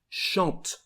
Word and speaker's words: chante: Well, the first forms, the singular forms, we don't pronounce the letter E at the end. We just emphasize the consonant before. So here, the pronunciation of the first form is chante.